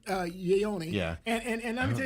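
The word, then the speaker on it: Ioane: Guard, but it's pronounced uh Yonyi.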